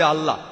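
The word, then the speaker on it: الله: যে ভাই স্কফিল্ড একমত উচ্চারণে কিছুটা পার্থক্য তারা বলে আলা আমরা বলি আল্লাহ উচ্চারণ কিছুটা আলাদা তবে শব্দ দুটো একই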